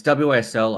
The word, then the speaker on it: WSL: It's WSL. I say whistle.